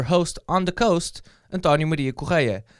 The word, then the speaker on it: Antonio Maria Correia: on the coast and tanya media ko kya that is anton you midea ko kya that's how my name is pronounced in case you were